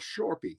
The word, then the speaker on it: Shorpy: If any of you are familiar, there's a website that I know some of you know called Shorpy. It's spelled S like Sam, H like Harry, O, R like Robert, P like Peter, Y like Yolanda.